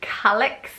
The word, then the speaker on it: Calix: Next is the name Calix, a bit like Alex but with a C at the front, but it's spelled C-A-L-I-X.